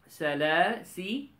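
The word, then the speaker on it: سلاسلا: this alif is silent this alif is silent when we connect but when we stop then we pronounce this alif okay we call this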